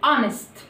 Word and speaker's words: honest: عندي كمان لو الكلمة بدأت ب H O N مش هنطق ال H برضو. لو الكلمة بدأت ب H O N مش هنطق ال H، هتبقى silent. زي كلمة honest.